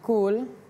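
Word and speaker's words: قُلْ: misalnya kita baca ee qul huwallahu ahad itu harusnya pakai qof. Qul qul katakanlah.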